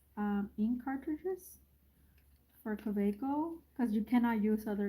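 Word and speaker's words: Kaweco: We say Kaweiko, but in German it's the W, it's a V. Kaveiko.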